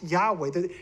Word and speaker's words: Yahweh: Matter of fact, he said because modern Hebrew does not have a W sound, does not have a wah sound, it doesn't have that. He says it's hard for him and many other Jews to actually make a W sound. They don't have a W sound. It's a V sound. But his wife, being Yemenite, she has retained that W sound. So he says, not only is it right, Yahweh, and again, this guy, he's an archaeologist.